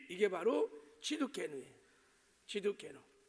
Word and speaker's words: 치두케누: 이것도 이제 오늘 이제 살펴볼 텐데, 자, 여호와 치두케네, 발음을 잘해야 돼요. 치두케누, 치두케누.